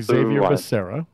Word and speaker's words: Xavier: and then of course Xavier Serra who replaced Kamala Harris in final unison and and and he pronounces it Javier Javier it's the X the X is a J in Spanish yeah Javier how they